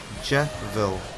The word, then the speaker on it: Jevil: Kio reckons it's pronounced Jeville. So not Jevil. So like devil Jevil.